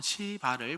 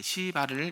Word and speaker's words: 시바: 사울 집안의 종이었던 어 시발을 불렀습니다. 발음을 잘해야 됩니다.네 시바를 이렇게 찾았고요.